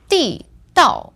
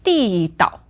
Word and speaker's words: 地道: So this word, 地道, is fourth tone, fourth tone. Now, I've got another pronunciation which has another meaning. That's 地道.